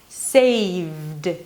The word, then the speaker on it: saved: So in the word save, there is no E sound. It's just a D right after the consonant. Saved.